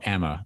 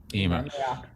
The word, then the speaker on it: Emer: Is it Emer or Emma Mayock? Emer.